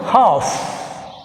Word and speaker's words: half: Next 44, half. Half. Which is silent? L silent.